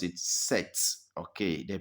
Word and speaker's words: sept: But that P, you don't pronounce it. It is silent. So you normally pronounce it set. Okay, the P is silent. So it is not sept, but set.